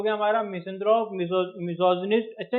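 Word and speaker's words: misogynist: ठीक है, ये हो गया हमारा मिसेंथ्रोप, मिसोजिनिस्ट। अच्छा, ये बोलता क्या है, बोलते क्या है? मिसोगाइनिस्ट नहीं, मिसोजिनिस्ट। इसको जी वाई को जो है जे की तरह बोलिए आप, मिसोजिनिस्ट।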